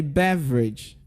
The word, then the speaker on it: beverage: Also, when you say beverage, can I hear you say beverage? Can you guess the disappearing letter in that word? Oh, it's actually letter E. Exactly.